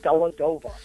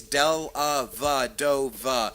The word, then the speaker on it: Dellavedova: the love of God, will you tell your crew it's Dellavedova? It's not Dellavedova.